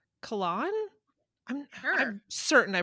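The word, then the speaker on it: Cahalan: by uh cal It's not Callahan it's colan I'm I'm certain I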